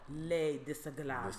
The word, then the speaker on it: Les Disagreeables: Collectively, we are called Les Disagreeables. Disagreeable. Okay, Les Disagreeables. Les disagreeables. That's how you know, okay.